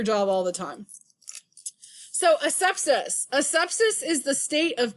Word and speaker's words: asepsis: Asepsis is spelled A-S-E, hold on, I got to write it out, A-S-E-P-S-I-S. This is a medical term, okay? How it's broken apart is as such. A, sep, is.